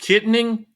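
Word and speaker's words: Kittanning: Yeah, it's pronounced Kittening Blake.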